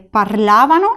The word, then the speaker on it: parlavano: La sílaba tónica de parlavano es esta de aquí. Parlavano.